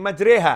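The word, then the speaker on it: مجراها: Nabi Muhammad SAW salam karena ada tulisannya bismilahi majreha Hey majri hati bacanya bismilahi majreha Hai tulisan dan ucapan berbeda itu harus bisa dibaca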